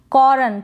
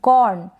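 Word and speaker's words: corn: है मक्का या अनाज तो सी को क पढ़ रहे हैं और यह ओ आर को औ औ या और और र को बिल्कुल थोड़ा सा प्रोनाउंस करें और तो कॉर्न ये है हॉर्न इसको क्या पढ़ेंगे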